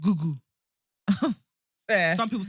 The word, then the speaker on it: Google: How's it pronounced? Google. Fair. Some people say goggle.